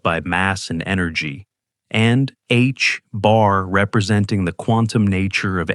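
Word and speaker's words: ħ: The reduced plank constant written as H bar pronounced H bar.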